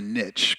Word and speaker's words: niche: decide which niche, and I'll say niche because it it rhymes with rich, but uh I like that one. Yeah, that's right. That's right. But how do you decide which uh niche or niche to serve?